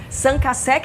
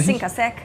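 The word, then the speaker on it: Cinq à Sec: Qual é a pronúncia correta? Cinco a sec. No Brasil a gente fala cinco a sec mesmo. Como a franquia tem origem francesa, lá se fala sanca.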